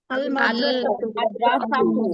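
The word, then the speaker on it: المدرسة: কমারিয়া কমারিয়ার মধ্যে লামের উচ্চারণ হবে কি হবে না? হবে হবে হবে হবে। তাহলে আলিফ লাম লাগিয়ে বলি দেখি। আল মাদ্রাসাতু আল মাদ্রাসাতু, মাশাআল্লাহ।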